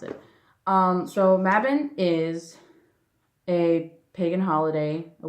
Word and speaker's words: Mabon: Some people pronounce it differently, but that's the way I pronounce it. So Mabon is a pagan holiday, a Wiccan slash pagan holiday.